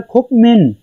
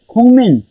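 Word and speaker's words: 국민: तो फर्स्ट जो एग्जांपल दी हुई है मैंने वो है, ये लिखा हुआ है खुकमिन खुकमिन, तो इसे हम पढ़ेंगे खुंगमिन खुंगमिन खुंगमिन।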